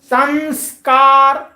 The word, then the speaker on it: संस्कार: करते हैं, ये है संस्कार। संस्कार, ठीक है, क्या है? संस्कार। तो नासिका से अनुस्वार का उच्चारण हो रहा है, ये वेद में प्रयुक्त होता है, ठीक है, ये भाषा में भी प्रयुक्त होता है।